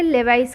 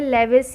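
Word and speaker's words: Lewis: इसे लेवाइस कहते हैं। इसका प्रोनाउंसिएशन आप गलत सुन सकते हैं, लेविस या फिर समथिंग अदर, लेकिन इसका जो करेक्ट प्रोनाउंसिएशन है वो लेवाइस है, ठीक है।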